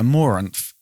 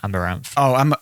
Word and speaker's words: Amouranth: They're called how do you pronounce that? Amouranth. Amouranth. Oh no, That's the beer. that's her name, Amaranth.